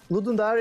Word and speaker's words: Ludum Dare: It's a Ludum Dare. It's kind of the pronunciation. It's not like a dare. It's the Latin for give. So it's kind of Dare. So Ludum Dare, you can get to